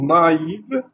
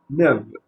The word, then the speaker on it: naïve: S'il n'y avait pas le tréma sur le et, sur le i, pardon, on aurait lu neve. Donc, si le AI, on va le lire A-E, d'accord? Mais lorsqu'il y a le tréma sur le I, ça va être lu séparément, ça va être na, i, ve. Donc, naïve, d'accord? Donc, se prononce na, i, ve, d'accord?